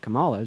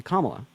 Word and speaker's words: Kamala: I was like okay instead of pronouncing it Kamala just say Kamala I'm I'm not like